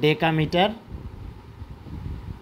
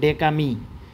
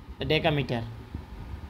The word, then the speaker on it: ডেকামিটার: আর এটার উচ্চারণ হচ্ছে ডেকামিটার, সংক্ষেপ হচ্ছে ডেকামি। তোমরা এটিকে ডেকো বলো, ডেকো বলা যাবে না, ডেকো বললে ভুল, ডেকা কয়াকার, ডেকামিটার।